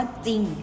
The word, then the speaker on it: จริง: เสียง พยัญชนะ นะ คะ จะ ออก เสียง ตัว หน้า เพียง ตัว เดียว เช่น คำ ว่า จริง นะ คะ เป็น ต้น